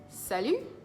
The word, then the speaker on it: salut: beginning salut means hi let's see it together sell you sell you Sal you yeah that's how you say it sell you that means